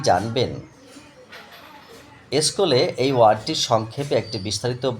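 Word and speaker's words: σχολή: স্কুলে এই ওয়ার্ডটির সংক্ষেপে একটি বিস্তারিত বলে দিন। স্কুল শব্দটা নিয়ে সংক্ষেপে বিস্তারিত বলছি দাদা। উৎস স্কলে শব্দটা এসছে গ্রিস ভাষা থেকে গ্রিক বানান। এই যে উচ্চারণটা উচ্চারণ স্কলে।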